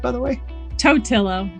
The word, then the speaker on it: Totillo: wicked reports today i have with me jessica tortillo koster did i pronounce that right by the way toetillo it's okay that's much better than what i